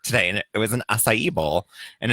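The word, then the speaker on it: açaí: once some people call it a Yi its acai so that was the episode of drag race where Jessica wild couldn't pronounce it so she kept saying I love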